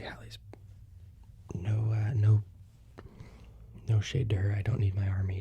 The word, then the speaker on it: Halley's: and she says is she pronounced it as Haley's comment but it's actually Halley's no uh no no